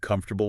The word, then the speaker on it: comfortable: Are you pronouncing comfortable with four syllables?